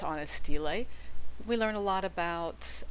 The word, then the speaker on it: stele: And a lot of what we know about life in ancient Mesopotamia is derived from artworks like steles. Let me show you how that's spelled.